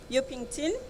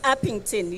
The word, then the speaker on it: Upington: greet the community of um yukington I'm not sure whether I'm pronouncing the area currently it's upington yes yeah um maybe in